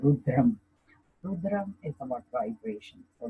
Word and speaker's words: Rudram: Rudram in India, Rudram actually. In English, we pronounce it Rudra, but actually it's Rudram.